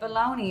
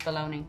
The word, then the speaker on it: bologna: ring bologna but baloney is how they pronounce that isn't it like it's it looks like belong yeah but it's it's pronounced baloney oh like throwing ass